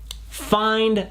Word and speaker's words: find: trouver find found found regardez bien la prononciation entre crochet pour prononcer comme il faut find find found entendre ici il faut bien entendre le H et bien faire la diphtongue le passage d'un son à l'autre et on n'entend pas